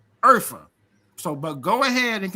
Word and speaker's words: Urfa: Or no, it's pronounced phonetically as Urfa.